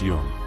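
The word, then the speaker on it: Jung: Yung pronounced Yung described this kind of work as making the unconscious conscious.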